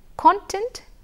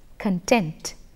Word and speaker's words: content: also give you the example of content versus content which one is a noun and which one is a verb content is a noun because it is if you if by listening to the pronunciation you should be able to make the difference content words content as a noun content he wasn't content with the price there as a verb let's move on we